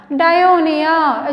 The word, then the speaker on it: Dionaea: Just look at the pronunciation, listen carefully. Nepenthes. Nepenthes commonly called as pitcher plant. Dionaea, it's commonly called as sundew plant.